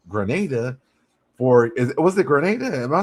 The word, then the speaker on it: Grenada: grow peaches in Grenada for is was it Grenada?